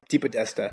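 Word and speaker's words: DePodesta: Deepodesta.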